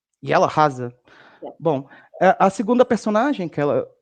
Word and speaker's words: Jella Hase: Leonie, can you pronounce her name again, please? Jella Hase. Jella Hase.